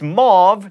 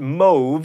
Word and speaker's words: mauve: happens again and again it's mauve not move and C cluck Clan